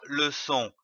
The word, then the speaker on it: les: Vous pouvez utiliser un miroir pour voir le son E formé avec votre bouche. Je lis une syllabe avec le son E précédé d'une consonne à l'aide de l'arbre aux syllabes.